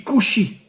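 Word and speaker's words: כושי: En hébreu, le mot noir se dit couchi.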